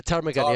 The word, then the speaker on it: ptarmigan: I can never pronounce the name of the bird, like parmitsigan or something like that. Now I have to Ah, like check it out. ptarmigan. Yeah. Yeah, ptarmigan. Yeah, Ptarmigan with a silent P.